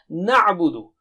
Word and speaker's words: نَعْبُدُ: Na'budu. If you have problem pronouncing or articulating or saying ayn, this is the best practice.